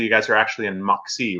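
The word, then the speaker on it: Moxee: but it's actually, you guys are actually in Moxie, right? Yep, technically in Moxie. And did I pronounce that right?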